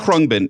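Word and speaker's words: Khruangbin: pronounce the name of the band? Krungbin.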